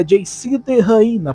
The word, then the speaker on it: JCTheHyena: A pronúncia certa em inglês seria JC de Raina, porém em português ficaria JC de Hiena.